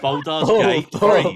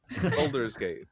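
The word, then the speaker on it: Baldur's Gate: Bald's Gate.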